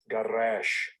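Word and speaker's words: גרש: It is Gadash. Gadash. This is the pronunciation. Strong's H 1644. Garash.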